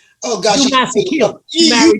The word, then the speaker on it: Masekela: Oh gosh, Hugh Masekela. Hugh Masekela.